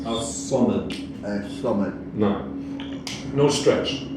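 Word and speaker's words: الصمد: As-Samad with a Sad, so thick S. As-Samad.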